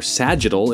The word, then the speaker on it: sagittal: simply transposed through the sagittal plane or sagittal if you like that soft G the heart is located